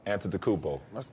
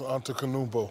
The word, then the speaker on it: Antetokounmpo: Pronounce Giannis's last name. Giannis Antetokounmpo.